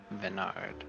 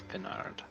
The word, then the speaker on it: Bernard: Venard. No, it's Bernard.